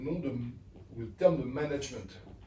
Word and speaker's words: management: et que en fait ce terme de management est à prononcer à la française donc plutôt management ça c'est le petit anecdote